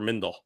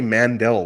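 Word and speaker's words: Mindell: happened my entire also a lot of people say mandel which i don't get because it's clearly mindel mindle i never quite understand because it's spelled clearly m-i-n-d-e-l-l like farmer in the dell so i don't know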